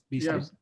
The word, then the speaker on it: Bielsa: Bielsa? Yeah, Bielsa.